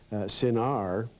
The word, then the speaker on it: Sinar: Well, if you look at carefully, it spells C-I-N-A-R, but the C has a little stroke at the bottom of it, which means pronounce this like an S. Sinar, which is not very far from the pronunciation Shinar.